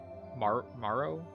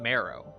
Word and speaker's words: Morrow: Is it Morrow? Not Marrow. Just Morrow? Morrowind? Morrow. Like T-O Morrow?